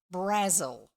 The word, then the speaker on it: Brazil: as Brazil but pronounced Brazil yes yes like the Razzle not the country exactly I don't know